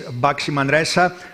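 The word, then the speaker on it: Baxi Manresa: one team front but let's make sure we know how to pronounce boximandresa and it is boxy Manresa finalists last year against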